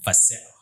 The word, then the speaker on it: Fasel: Did I pronounce that right? Fasel? Regan Fasel. Fasel.